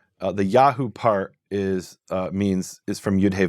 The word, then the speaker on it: Yahu: And what we find is at the end of a name, it's always Yahu. Right. Now that contrasts when the Yud He Vav is at the beginning of a name, and it's not Yahu. At the beginning of a name, it's Yeho. So we have the same exact name, Netanyahu.